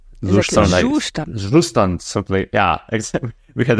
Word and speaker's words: Zustand: React Query, Astro, Zustand, which is not pronounced Zustand, but it's a German word. How is it pronounced? Zustand, simply.